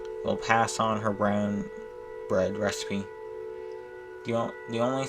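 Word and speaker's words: Bríd: irish saint it's foreign it's pronounced with a long e there's an english art breed but the final d is like the d in bridgette it's almost sounds like j bridge breeze okay castle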